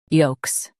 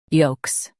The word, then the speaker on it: yolks: yolks Now read the syllables shown on the screen naturally. yolks yolks Stress yo and keep - clear. The L is silent.